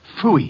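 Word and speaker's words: Pfui: It can be spelled in several ways. I spell it P-F-U-I. Phooey.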